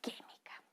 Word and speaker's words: química: antepenúltima sílaba por ejemplo tenemos la palabra química ya que mica química se dan cuenta suena más fuerte que ya entonces tenemos última